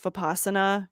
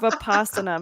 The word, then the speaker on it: Vipassana: i will name that the narrator um mispronounces vipassana consistently through the entire book which kind of drove me is that what he was saying that's what he was trying to say vapasana meditation which i've done